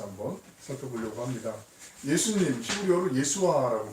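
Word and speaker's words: Yeshua: 예수님, 히브리어로 예수아라고 발음하는데요.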